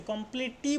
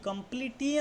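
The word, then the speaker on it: complete: টি বলছি না টি কমপ্লিটটি আমরা বলছি না কমপ্লিট দেখ ঠিক আছে এর পরে একটা কনসোনেন্ট আছে টিটা তারপরে একটা ই আছে কিন্তু দেখ প্রথমের ইটা দীর্ঘর মত উচ্চারণ হচ্ছে কিন্তু তারপরে দ্বিতীয় ইটা কিন্তু অনুচ্চারিত থাকছে যেমন কমপ্লিট ঠিক আছে কমপ্লিট মানে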